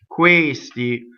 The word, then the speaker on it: questi: Questi. Again, all those words. Questo, quello, questi, questa. Close D. And it's on the stress.